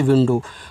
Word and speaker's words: window: डी से डा और ओ से ओ की मानता डो, यहाँ डब्लू का उच्चारण नहीं, तो विंडो।